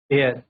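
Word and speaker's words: heir: यह स्टार्ट तो हमारे एच से हो रहे हैं। बट यह साउंड किसका देंगे? साउंड वोवेल का आता है।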